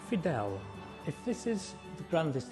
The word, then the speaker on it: Fydell: right because i have we've always known it as final house these are the last existing titles and they pronounce it fidel if this is the